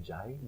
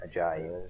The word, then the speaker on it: Ajayi: Ajayi? Jay Ajayi. Ajayi.